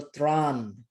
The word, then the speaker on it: ত্রাণ: ত্র, এই যেমন ধরো এখানে ত এর সাথে র উচ্চারণ যোগ করলে হয়ে যায় ত্র। তারপরে যদি আমি আকার দেই হয়ে গেল ত্রা। তারপরে যদি আমি ন যোগ করি তাহলে হলো ত্রাণ।